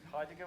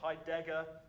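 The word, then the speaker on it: Heidegger: the audience uh um haiger wasn't a fascist or higer as I'm obliged to pronounce it because that's what my dad would always say hyeran uh were never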